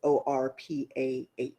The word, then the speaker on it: Orpah: So um, they couldn't pronounce it because the letters, the P and the R, um, were in different positions. So it's Orpah is her actual name. So it's Orpa, but of course we say Oprah to make it easier.